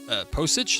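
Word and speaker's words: Pocic: The report says the Ravens waived Pavia to make room for veteran center Ethan Posich, is that how you say his name?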